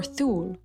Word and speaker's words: Thule: It's a 6 to 6.5 in hardness and was named for Thule, Norway, or Thule. They may not pronounce the H, I don't know.